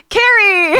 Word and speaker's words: Carrie: and I'm joined by someone whose name rhymes with terrari Carrie there we go hi